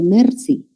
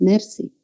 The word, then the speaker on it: merci: No sé si ustedes, pero yo tengo cierta dificultad para pronunciar, por ejemplo, la R del francés. Yo digo merci, merci. Mi R es alveolar en español. Igual pronuncio también la R del francés, merci. Y sé que no es merci, sino es mer, ¿no? Mer. Es una R uvular que se debe articular bastante posterior, ¿no?